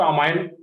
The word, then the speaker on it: amine: आ रहा है, इस एमीन को बोलते हैं यहाँ पे 1 डिग्री एमीन। एमीन या कई जगह इसको अमाइन प्रोनाउंस किया जाता है, जो भी बोलो एमीन या अमाइन, AMINE।